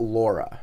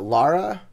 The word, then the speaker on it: Lara: I know it's not Laura. I know that's wrong. Is it Lara? Lara? Like Tara, but just with an L, Lara? No, that's That'd not be right. Lara.